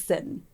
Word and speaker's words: Sitten: His middle name was Sitten. How do you spell it? Like sitting. Sitten. Cute. No G.